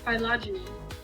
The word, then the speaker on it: phylogeny: Phylogeny. Phylogeny, that's how you say it.